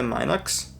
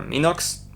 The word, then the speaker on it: Minox: This is created by Minox, or Minox to say it correctly.